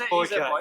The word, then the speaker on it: Boyka: So it's Boyka. It is Boyka. It is definitely Boyka.